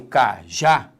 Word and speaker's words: cajá: Quando eu falo cajá, repare que a sílaba tônica é a última.